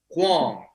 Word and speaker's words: Huang: i mean you gotta you got a unique pronunciation that nobody else pronounced which i kind of like you came up with your own so i never correct you huang huang but you say hong kong and i think it's